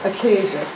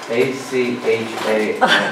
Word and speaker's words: Achaia: Achaia.